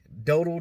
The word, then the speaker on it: Dowdle: I don't know how to pronounce it. It's Dowdle.